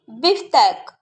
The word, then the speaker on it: beefsteak: Le beefsteak, le beefsteak.